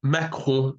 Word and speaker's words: Macron: In France, for example, Macron, his name is Macron in French, and it basically rhymes with macaron, a cake.